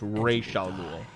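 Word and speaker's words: Ra's al Ghul: But but her father is pronounced Ral Ghoul.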